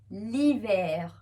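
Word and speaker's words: l'hiver: second season Winters in French are known as liver attention The Edge is silent over here because it is the mute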